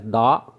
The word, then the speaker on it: the: the as da, and sometimes we pronounce the as the. Let's find out when to pronounce da or the. Initial sound of the word consonant da, initial sound of the word vowel the.